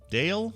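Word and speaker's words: Dail: uh the chord is it is pronounced dale okay oh so she's just saying david first thing bail was telling us yeah it's pronounced dale it was the dale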